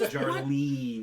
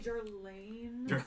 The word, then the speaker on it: Jarlene: It's J A R L E N E. It's Jarine. You got to really like stretch it out. Too many E. Technically Jarine.